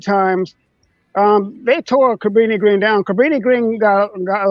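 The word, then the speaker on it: Cabrini-Green: something called I want to make sure I pronounce it correctly Cabrini Green yeah Cabrini Green was actually one of the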